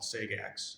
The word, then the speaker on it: Sagax: It's called Sagax, is how it's actually supposed to be pronounced. I call it Sajax because the other one's weird.